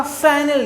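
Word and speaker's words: Fresnel: से पहला है आपका फ्रैनल डिफ्रैक्शन। प्रोनाउंसिएशन पर ध्यान दीजिए, हमने इसको पढ़ा है फ्रैनल, ठीक है ना। फ्रैनल डिफ्रैक्शन पढ़ा जाता है, इसको एस यहाँ पर साइलेंट रहता है, ठीक है।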